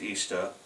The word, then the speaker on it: Ishtar: old Babylon in Iraq Ishtar pronounced Easter but yet Ishta she